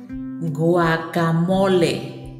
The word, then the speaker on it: guacamole: prepared as snacks or as a light dinner guacamole guac guacamole guac guacamole is fresh as